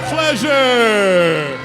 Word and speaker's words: Pleasure: for Pleasure. Oh, that's what's up. Those are the kind of students you That's a want. fun song, called Pleasure rhymes with treasure.